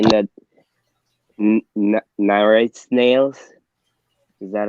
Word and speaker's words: Nerite: I seen a video last night where they were saying that Nyrite snails, is that how you pronounce it?